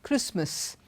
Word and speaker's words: Christmas: we have T pronounced even in words like Christmas listen hasten softened none of these words do we have T and look at the